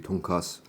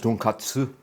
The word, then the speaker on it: tonkatsu: So, and you don't really pronounce it with a T at the end. With Korean tonkatsu. That's why I was pronouncing it without the T.